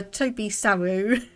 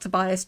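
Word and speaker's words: Tobysaru: today I've actually been saying your name wrong so I apologize for that uh Toby saru not Tobias Toby sauru uh thank you for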